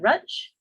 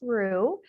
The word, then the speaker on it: Ruth: Is it Ruth? Is it Rutch? Ruth, it's actually pronounced Rue, with Okay.